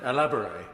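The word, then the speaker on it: Alabaré: I pronounce it Alabare because I had this out with them last week.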